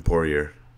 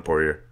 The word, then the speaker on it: Poirier: give the first one Poirier Poirier how would you pronounce in the watery pouring here oh yeah yeah it's Cajun ba ba French ba ba it's from Louisiana raging his occasion gate